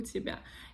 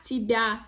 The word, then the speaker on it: тебя: There is no the sound y in these words. Then correct stress, correct accent in the word.